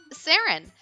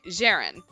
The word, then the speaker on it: Ceren: what was your name sarin spelled c e r e n that's J like Jester and ran like Ransom I did not pronounce that right Jaren shut your mouth for